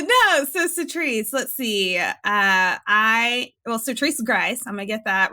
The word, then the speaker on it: Sertrice Grice: Sertrice Grice, I'm gonna get that right, how to pronounce my name.